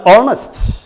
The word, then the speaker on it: honest: Here you look, the pronunciation, and honest, and honorary, and honor, honorarium. ഈ വാക്കുകളിലൊക്കെ H silent ആണ്.